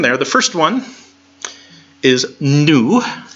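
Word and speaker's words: nu: the first one is new sounds like the in in the word new go figure yeah the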